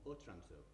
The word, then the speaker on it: Otranto: The book pretends to be a manuscript which Walpole has acquired from the Middle Ages, and in particular from Otranto, it's now, as it's actually pronounced, in Italy.